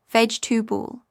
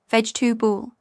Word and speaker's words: vegetable: Vegetable British, veg-to-ball, dropping the middle syllable. American, veg-to-ball, very similar, but often clearer.